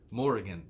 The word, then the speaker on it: Morrigan: So Morgan has less syllables than Morrigan. That kind of stresses the mouth more to say. Morrigan, but Morgan.